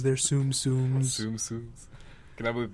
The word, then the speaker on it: Tsum Tsum: a month they release new sets of not zoom zums they're Tsum tsums tum tsums can I believe we're actually having